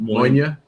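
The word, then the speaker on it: Mòine: Moine.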